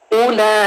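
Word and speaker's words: أُولَٰئِكَ: रहीम उला अब देख रहे हैं कि अलिफ के साथ जो वा है उस पर कोई साइन नहीं है तो मतलब यह वा जो है यह साइलेंट है अरबी में ये है किस लेटर का कोई हरकत नहीं है वो नहीं पढ़ जाता ठीक है य पर वा पड़ा नहीं जाएगा सिर्फ अलिफ पेश उ है और उ की एक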